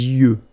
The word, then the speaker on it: yeux: Les yeux. Okay, final X not pronounced.